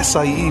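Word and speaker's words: açaí: sell uh smoothies in a Kai bowls or Si bowls if you want to pronounce it correctly and as you know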